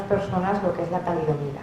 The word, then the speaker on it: talidomida: lo que es la talidomida. O sea, porque al principio los periodistas ni siquiera la pronunciaban bien, ¿no?, decían talidomina o la cambiaban, y cada vez hay